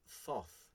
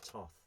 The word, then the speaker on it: Thoth: Now, incidentally, Thoth, whilst it looks like it's Thoth, it is not. It's pronounced Thoth.